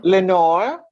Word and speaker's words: Lenore: all have family okay so what's the proper pronunciation for your name Len Nora Lenore l e n o r e French writers